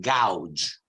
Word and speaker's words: gouge: Okay, you pronounce it gouge.